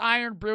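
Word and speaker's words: Irn-Bru: It's pronounced Iron Brew.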